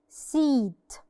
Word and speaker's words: seat: Now in this word we have E and A. This word we have E followed by A. في الحالة دي ال E بس اللي بننطقها. The A stands quiet. ال A بتقف ساكتة خالص ملهاش صوت. seat. مش بقول سيات. no. seat.